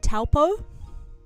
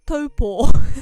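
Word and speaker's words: Taupō: Growing up we always called it Talpo. Growing up we called it Talpo. It's pronounced topo.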